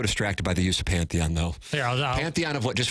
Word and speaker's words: Pantheon: panthenon panon I use the word correctly but pronouncing it seems to give me a little bit of trouble Pantheon Pantheon it's all right you know what I